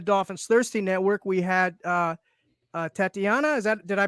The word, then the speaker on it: Tatiana: We had Tatiana. Did I pronounce that correctly? Yeah, Tatiana.